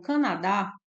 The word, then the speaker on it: Canadá: temos a palavra Canadá eu vou separar as sílabas e destacar a sílaba mais forte então Canadá a sílaba mais forte é o dá nós temos aqui uma